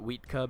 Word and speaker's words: Huitka: Rex, you will know Huitka. I call it Wheatka because that's how the Aztecs would pronounce it, but, you know, it doesn't fucking matter.